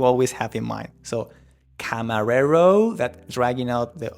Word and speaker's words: camarero: that we need to position the tongue in front of your teeth and just place it soft and going forward. So, it will be camarero.